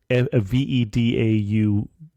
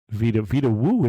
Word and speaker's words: Vedauwoo: You're saying it's spelled like it sounds, so it's Vedauwoo. Yep. Vitawu is what it looks like. They pronounce the V like a W, but I don't quite know how they do it.